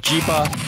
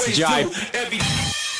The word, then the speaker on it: Jipe: Or DJ Ipe, or Jipe, or Jipa, I don't know. Everybody pronounces it differently, but it is Jipe.